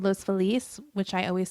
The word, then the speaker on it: Los Feliz: police though it is you're gonna say it with the correct Spanish pronunciation it is Los Feliz okay but everyone in LA says most felis Los Feliz every like white person